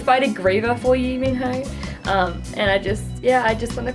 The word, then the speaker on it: Minho: heart really belongs to Minho, which is how I pronounce his name, but the movie pronounced like Minu.